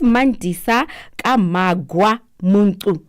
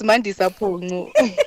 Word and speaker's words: Mandisa Pungu: Let me just go back and say this is Mandisa Kamagwa Muntu. Did I pronounce it right? Pungu. It's Mandisa Pungu.